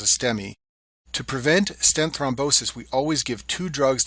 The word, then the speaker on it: thrombosis: Second complication of stance is called thrombosis. It rhymes with reinosis, but it's a totally different problem and much more dangerous.